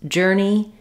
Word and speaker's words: journey: In this video, we'll look at how to pronounce journey and journal. So both of these words are spelled with the letters O-U-R and they just say the sound, like in earn or early.